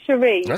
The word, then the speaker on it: Sheree: No, it's actually S H E R E. It's pronounced Sheree.